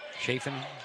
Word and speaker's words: Chafin: Not make that Will Chaffin, excuse me. Chafin probably is the correct pronunciation.